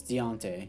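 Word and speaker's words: Diontae: they definitely want to resign him as he comes back deontay johnson uh yeah did i pronounce that right is it dante no it's deontay yeah deontay johnson i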